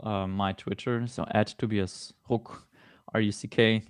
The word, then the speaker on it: Ruck: So at Tobias Ruck, RUCK. Like props to you pronouncing that in proper German.